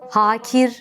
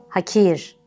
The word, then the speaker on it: hakir: örnekler nasip değil nasip hakir değil hakir vakur değil vakur tahin